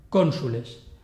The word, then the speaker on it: cónsules: Si la penúltima sílaba tiene la vocal breve, la palabra es esdrújula, cónsules. La O de cónsules es larga por posición, pero la U es breve, la palabra es esdrújula.